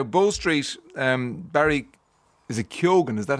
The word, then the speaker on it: Keoghan: Is it Keoghan? Is that how you pronounce it? Keoghan, yes. Barry Keoghan.